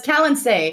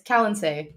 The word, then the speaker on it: Kalen: first time I think I think it's Cal kin or Cal no it's Kalen it's Callen okay so Alex harer and